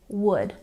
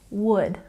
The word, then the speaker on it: would: Don't say the L in these words. Number 45, we say would. No L. Would.